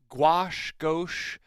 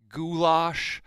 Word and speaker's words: gouache: So Sharon would like to know, does gouache, goulash, how do you say it?